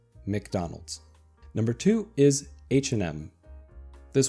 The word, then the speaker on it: McDonald's: I've heard this pronounced in a different way in Russian and also in Italian. So, the American way is McDonald's.